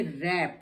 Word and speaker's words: wrap: अब R से पहले W है तो ये रैप नहीं है, ये रैप है, रैप।